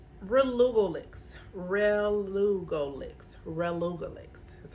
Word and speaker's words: relugolix: plus the first one all right relugolix relugolix relugolix is how it's pronounced all right it's used to treat advanced